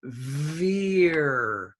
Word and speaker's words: veer: you started my class some of you were saying be i4ve er you were saying be ei be ah but it's veer okay get a good pronunciation there next we have boat